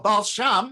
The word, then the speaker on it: Baal Shem: dr balsham liber well balsham is just a uh eastern pronunciation of wal-shem doctor means he was